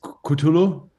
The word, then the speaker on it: Cthulhu: So, but I was asking how do you pronounce it? It's Cthulhu.